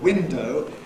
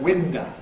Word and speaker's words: window: In particular, final unstressed O tends to be replaced by schwa, which doesn't happen in standard accents, so that for standard window, you get winda. Cockney schwa is pretty open anyhow, like, but it's winda, not window.